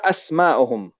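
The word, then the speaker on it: أسماؤهم: But the plural of ism is asma, and here we have to pronounce it. So we say ma asma'uhum.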